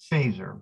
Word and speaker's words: Feser: It's pronounced Phaser, but it's spelled F-E-S-R. So I keep calling him Feser, but it's not. It's Phaser, like Star Trek Phaser.